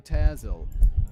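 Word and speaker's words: Pitezel: the three missing children of Benjamin pel P pyzel thanks for the pronunciation guy David I'll do my best to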